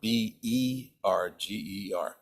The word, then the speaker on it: Berger: world, Joe Berger, and that's spelled Berger. Okay, Berger, not like a hamburger, but it happens that my name's and he's Berger, so some people do call us Hamburger.